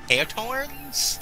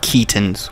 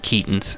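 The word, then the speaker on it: Keoghtom's: Yeah, it's called Kaotorn's ointment. I think it's Keaton. Holmes. No, it's pronounced Keaton's with a long E. Keaton's.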